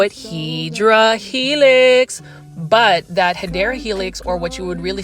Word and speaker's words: Hedera helix: Now, as far as this, one thing I learned about the Hydra Helix, or the correct way to say it is Hedera Helix.